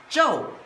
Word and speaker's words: 昼: And in modern character is this and pronounced as Joe which means the daytime.